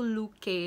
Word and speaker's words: Looke: Awalnya aku bingung gitu kan, si Luke ini tuh pronounce-nya gimana, ternyata dibaca itu Luke.